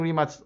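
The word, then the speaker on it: Rimac: Yeah, I've been pronouncing remats correctly, but I was not pronouncing it correctly when I was interviewing Mate Remats.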